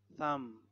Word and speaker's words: thumb: logically so a silent silent B when there is M before the B so we don't say p climb crumb lamb thumb Dum Plum Plum Plummer